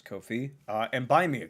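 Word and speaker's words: Ko-fi: patreon subscribe star uh Kofi or Kofi um but it was I guess was intended to be pronounced as Kofi uh and buy me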